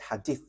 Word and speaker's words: hadith: So there is a book which is called hadith.